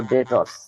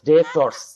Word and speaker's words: debtors: তাহলে কি হবে, DETORS, ডেটর্স। বি এর উচ্চারণ হবে না, কারণ এটা সাইলেন্ট ওয়ার্ড।